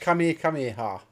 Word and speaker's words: Kamehameha: You know it's pronounced Kamehameha.